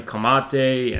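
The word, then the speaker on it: Camatte: know bordeja and those fucking people and even kamate and you know that's how you pronounce his name and i was reading i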